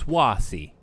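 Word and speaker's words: Choisy: that's the gate no it's swasi cuz it's like Louis swah I'm bad with pronunciation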